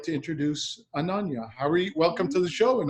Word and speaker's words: Ananya Harvey: so without further ado I'd like to introduce Ananya Howie welcome to the show and Anja thanks oh